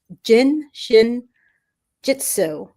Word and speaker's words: Jin Shin Jyutsu: It's called the Jin Shin Jitsu.